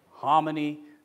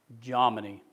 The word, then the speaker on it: Jomini: I always used to say Hominy, but a lot of people say Jominy. They pronounce the J.